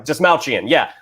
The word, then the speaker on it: Dastmalchian: And also, help me with the pronunciation of his name, John. David, is it Dastmalchian? Yeah. Dastmalchian, who's playing Calendar Man and will also be playing Polka Dot Man in James Gunn's Suicide Squad.